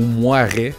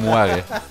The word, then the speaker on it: Moirai: Deuxième shout-out, un jeu sur Steam qui s'appelle Moirai, M-O-I-R-A-I, ou Moiret, mettons que tu prononces vraiment comme de la merde. Moiret.